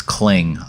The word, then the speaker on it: Kling: caring nonetheless uh cling no no it's cling uh like clinging to a ledge only it's spelled with a K so cling AI I'll